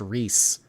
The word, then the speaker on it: Riss: By the way, my boyfriend Riss sends you money, and it's pronounced Reese. Oh, I've always said Riss. I've never seen Reese spelled that way before.